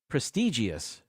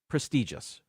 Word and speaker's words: prestigious: is uh very similar people say prestigious there's a number of eyes in the word actually two of them uh it's actually pronounced prestigious uh I don't know